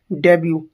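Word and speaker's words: debut: डेब्यू डेब्यू इसे डिबेट नहीं बोलेंगे क्या बोलेंगे इसे डेब्यू फर्स्ट पब्लिक अपीयर्स जब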